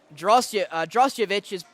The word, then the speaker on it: Drosjevich: I think I've been saying it with a B instead of a D, so that is my apologies, but I do know it is Drosjevich, and hopefully I've been